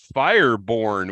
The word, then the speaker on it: Fireborn: Travis Fireborn, last name is pronounced Fireborn, which is incredible.